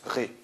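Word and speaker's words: -rai: Eh bien, il faut dans un premier temps savoir que R-A-I-S se prononce RAI, alors que R-A-I se prononce RE.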